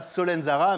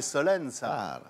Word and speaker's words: Solenzara: En Corse, on ne prononce pas la dernière syllabe des noms. Un Corse ne dira pas Solenzara, mais Solen ça.